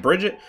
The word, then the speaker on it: Brigitte: Brigitte? I don't know. People were telling me all sorts of different ways to pronounce this hero's name. Brigitte? Whatever it is, it's supposed to be not Bridget, which I don't understand